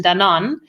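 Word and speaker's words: Danone: a large global corporation dan on actually it's pronounced in english and we created a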